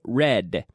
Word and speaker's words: red: nose nose red red my tongue stays back behind my teeth my tongue does not touch my teeth ok red with the D it's very important red I live in Madrid